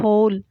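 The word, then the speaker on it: whole: इसी तरह अगला लफ्ज़ होल, HOLE, होल पढ़ेंगे और W इसमें लिखेंगे साथ।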